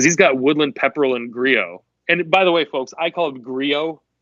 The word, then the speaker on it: Grillo: You can call it Grillo all day. I'm not trying to sound highfalutin. I know people personally with that last name, and they say Griot. Yeah, you got to pronounce it with the accent.